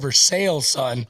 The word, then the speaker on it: Versailles: sure yeah because they they've got what was it versailles versailles and they call it mercedes is called for sale son for sales that's right it's for sales i knew it there